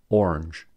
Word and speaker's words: orange: So, for instance, many Americans pronounce orange as a one-syllable word, orange, and family, a three-syllable word, as a two-syllable word, family.